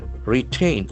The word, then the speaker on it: retain: Retain. R T A I N. So we can see that the accent falls in second syllable.